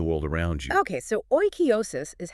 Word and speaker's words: oikeiosis: Oikeiosis. Pronounced roughly oikeiosis.